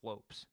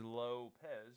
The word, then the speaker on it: Lopes: So I could be wrong here, man, but I think Lopez, and I think it's pronounced Lopes, but everybody says, yeah, this is literally Lopes, bro. No, Diego Lopes. I know everybody says Lopez, but whatever.